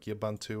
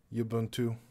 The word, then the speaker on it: Ubuntu: It's not pronounced Ubuntu, it's like Ubuntu or Ubuntu.